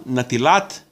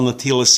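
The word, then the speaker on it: נטילת: kidshanu b'mitzvotav v'tzivanu al natilat yadayim. That's your basic Hebrew. Slight differences if you're using Yiddish. For example, say al natilas yadayim. Little differences with the final S and with the pronunciation.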